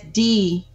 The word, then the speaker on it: DeGruy: DeGru. How do you yes, pronounce the Gru, DeGru? yeah, the Gru. hmm Dr. And that's DEGRUY. That is That's correct. why it's DEGRUY, DeGru. The Y is silent.